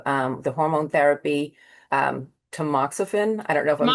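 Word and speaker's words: tamoxifen: fifth year of um the hormone therapy um tmoxifen.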